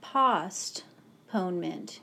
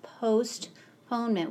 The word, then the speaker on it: postponement: The reason that the first vowel is not short is because ost was a weld, O-S-T. It's not postponement. It's postponement.